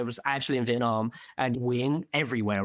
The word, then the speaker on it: Nguyen: Yeah, my surname in Vietnamese, or how you're supposed to pronounce it, is Nguyen. But as a kid, I've always pronounced it as Nguyen, right? Just because it was like easier. There's no N in pronouncing it in Vietnamese, but teachers would ask me and stuff.